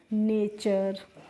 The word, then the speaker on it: nature: जैसे NATURE, तो देखो NA को बच्चों हम ने पढ़ लेंगे, और TURE को क्या पढ़ेंगे, चर, तो ये क्या हो गया, नेचर।